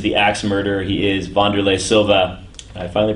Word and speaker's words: Wanderlei Silva: He is Wanderlei Silva. I finally pronounced his name right.